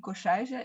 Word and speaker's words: Korsuize: I'm Korsuize, if you pronounce it in the Dutch way, and I've been working for the City of Utrecht over 20 years.